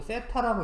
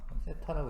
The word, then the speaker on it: 세타: 이거 세타라고 읽어요. 세타라고 읽으시면 됩니다.